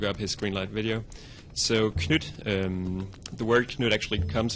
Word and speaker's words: Knytt: So as you might have noticed, I call it Knytt Underground, mainly because that's the way Nifflas calls it himself, if you just look up his Greenlight video. So Knytt, the word Knytt actually